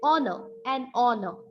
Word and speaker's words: honor: For example, the words like honor, an honest man. Okay, so the spelling of honor starts with HONOR, but it has a vowel sound.